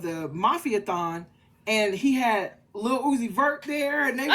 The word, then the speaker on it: Lil Uzi Vert: It's Lil Uzi. She said Little Uzi Vert.